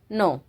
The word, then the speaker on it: know: वैसे KNOW क्या बनता है हमारा, कनो, लेकिन यहाँ पे क्या है भाई, हमारा के है जो वो साइलेंट लेटर है, तो इसलिए क्या हो गया हमारा, नो। KNOW क्या बन गया, नो।